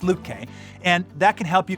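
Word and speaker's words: Lütke: from shopify ceo toby lukey lutky i always get his name wrong but it's luke k and that can help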